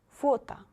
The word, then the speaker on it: фото: Фото, фото. First O is stressed. It should be pronounced like O. Second, O is not stressed. It will be A. Фото, фото.